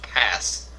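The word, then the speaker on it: Paz: They say I just looked it up and her name is pronounced pass.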